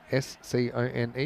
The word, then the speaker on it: scone: at t you have a s c o n e. You have a scone. Scon. I say scone. Yeah. But some people think it's scone. SC is I got a feeling if I looked it up both would be acceptable.